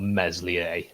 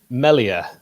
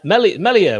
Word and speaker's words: Meslier: uh nick how do you pronounce the goalkeeper's name meslier it's definitely not meslier go on then i think it's melia no one's ever said it that way let's put it that